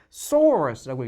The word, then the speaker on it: saurus: 이게 우리나라 말로는 아파토사우루스라고 읽는데 영어로는 사우루스라고 안 읽어요. saurus라고 읽습니다.